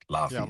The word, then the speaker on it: Laufey: I'm not sure how to pronounce. Laufey, thank you.